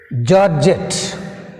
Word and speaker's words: georgette: Georgette, georgette, georgette, georgette, georgette. Here georgette word last syllable is jet.